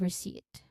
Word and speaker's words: receipt: continuing we have receipt there's a silent letter there P we don't say receipt but receipt. Okay, are we clear on that? Okay, pronunciation wise, we silent P and then we stress on second syllable.